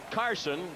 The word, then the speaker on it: Carlson: There's Carson. His name spelled Carlson, but he prefers not to pronounce the L in his first name.